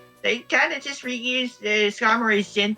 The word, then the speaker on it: Skarmory: No, it's Skarmory.